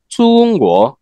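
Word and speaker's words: 中: Actually সঠিক উচ্চারণ হচ্ছে চুঙ্গ।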